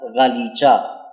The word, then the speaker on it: غالیچہ: پھر لی، پھر چا۔ اب ان تینوں کو جوڑ کر پڑھیں گے تو یہ بنے گا غا لی چا، اور اس کو ادائیگی کے ساتھ تلفظ کرتے ہوئے پڑھیں گے تو یہ بنے گا غالیچہ۔ کیا بنے گا؟